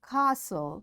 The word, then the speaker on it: castle: Fasten, castle or castle, often, whistle, soften, hasten, bustle, and gourmet. There are different words, but in all these words, T is silent.